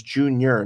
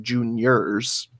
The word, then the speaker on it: junior: It's junior, not juniors.